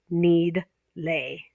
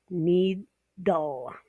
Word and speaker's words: needle: The D goes with the LE. Okay, it's important they don't split between the D and the L. You don't want to say need lay. Okay, it's needle.